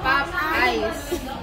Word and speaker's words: Popeyes: I yun yung basa pop eyes two no this is Pop and this is eyes two syllables hindi tatlo napay Yes hindi Sosyal